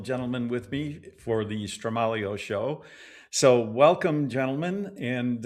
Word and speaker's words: Stramaglio: Stramaglio with the soft G.